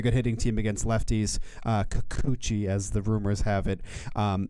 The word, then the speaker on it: Kikuchi: Kikuchi. Is it Kuchi? Kikuchi. Kikuchi.